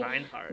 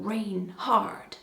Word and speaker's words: Reinhardt: Well, next up, almost as badass as Wolf Gang Reinhardt, or should I say Reinhardt. Rainh hard. Oh, Reinhardt. It rains hard.